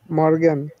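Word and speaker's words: Morgen: তারপর দেখেছি এম দিয়ে তাইতো কি দিয়েছিলাম মারটা প্রোনাউন্সিয়েশন করেন এম ও এফ গে এ এন মর্গান মর্গান yeah মর্গান মানে মর্গান মানে হচ্ছে একটা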